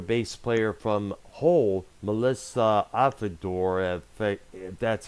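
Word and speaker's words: Auf der Maur: and I guess it got the former bass player from Whole Melissa at the door that's how our last name is pronounced she was briefly in that group for a short while before they disbanded that same year 2000.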